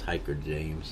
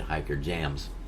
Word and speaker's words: Hikerjamz: a m z and I thought that was hiker James and everybody pronounced it hiker jams yeah I told you